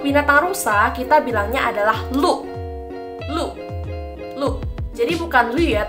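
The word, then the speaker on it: 鹿: Kara di unya ini di atasnya tidak ada titik dua kalau ada titik dua di atas punya baru kita bacanya I Nah rusak adalah lu lu lu e-blue dibacanya Lu karena di atas punya tidak ada tanda titik dua Sekarang kita akan masuk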